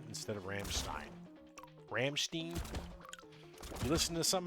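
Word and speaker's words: Rammstein: Yeah, the way I always was taught German is how you say the EI or how you say Steen or Stein depends on what letter does that end in.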